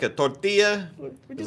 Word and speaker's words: tortilla: And it's like, why do you guys say it like that? Tortilla. It's like, you want a tortilla or whatever, and then he's like, tortilla, tortilla. You gotta roll those R's.